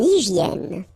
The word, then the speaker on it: hygiène: So remember, we've got this Y here, vowel, and it's pronounced like E, okay? Hygiène. H doesn't exist, H doesn't exist in French, so hygiène.